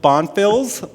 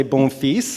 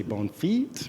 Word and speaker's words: Bonfils: let's get going uh my name again is bonfils but you can also say bom which is the French version if you speak French and you're wondering why I'm not pronouncing it right it's because most people don't understand what I just said right they usually say bone feet or something like that but it does mean